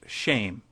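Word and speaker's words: שֵׁם: Hebrew word for name, which is Shem, pronounced shame.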